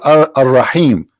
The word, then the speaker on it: Ar-Rahim: They say Ar-Rahim because this is how it's pronounced, but the fact it is Al-Rahim, Al-Rahman, Al-Aziz, Al-Muhaymin, etc.